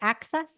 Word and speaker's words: AXS: um what's the network access is that how you pronounce it AXS Access TV AXS TV and um it's like good